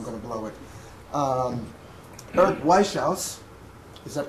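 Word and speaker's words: Wieschaus: Prize winner, and he told me how to pronounce his name, and I'm going to blow it. Eric Weishauss. Is that correct? No. He will correct me when I... Weishauss.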